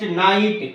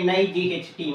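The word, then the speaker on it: knight: B is silent next night k n i g h t night the letter K is silent next honor h o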